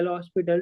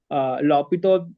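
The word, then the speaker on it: L'Hôpital: function using the L'Hospital is L'Hopital rule, generally you call that. I like, it's like the pronunciation is a bit difficult, so from the childhood we used to call that L-hospital.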